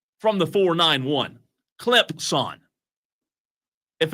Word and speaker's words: Clemson: Are you giving me grief about how I said Clemson? Clemson. Not a Z, right?